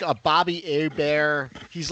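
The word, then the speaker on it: Hebert: And if if anything, you know, Castanza made the country know Bobby a Bear for sure by, you know, correctly pronunciating his name. Making sure it wasn't Herbert, but like a bear.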